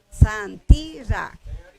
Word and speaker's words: Santira: Como es abierta, la segunda sílaba es abierta, yo debería de acentuar la primera. ¿Obedece o no? Santira.